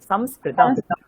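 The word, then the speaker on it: সংস্কৃতম্: করতে পারি, ঠিক আছে, কিন্তু বাঙালিরাই সংস্কৃত বলে, অন্যান্যরা দেখবেন সব সংস্কৃতম বলে, সংস্কৃতম মকার উচ্চারণ করে।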